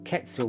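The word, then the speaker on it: Quetzal: to it it's the ketzel ketzel blue qu what Ketel blue named after the Ketel Bird that's how you say it this isn't Ketel blue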